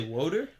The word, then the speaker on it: water: Water. Water, but if you're raised in Philadelphia, water? Yeah, if you're raised in Philadelphia area, your pronunciation probably sounds more like wooter or woocher.